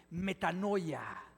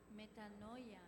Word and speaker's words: metanoia: Mira, la palabra griega que se traduce como conversión o arrepentimiento se se pronuncia así, metano a ver, pronúncienla después de mí. Metanoia. Metanoia.